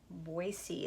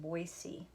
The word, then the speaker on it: Boise: Morgan what is the capital city of Idaho Boise is how you say that Boise and over here you have a tally chart